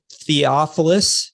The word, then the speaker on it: Theophilus: have messed up your name so it's uh theophilus is that how you pronounce it yeah we're going with theo and